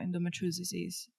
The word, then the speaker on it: endometriosis: My understanding of what endometriosis is that actually, how do you pronounce it? Metriosis?